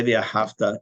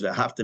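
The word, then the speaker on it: ואהבת: If you say V'ahavta, not only is it wrong, you might have to repeat you've never said Shema, because V'ahavta means and you loved. It's V'ahavta. The accent's on the last syllable.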